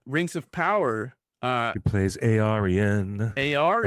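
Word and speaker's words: Eärien: She plays Arian, or how you Arian, not pronounce it, Aryan.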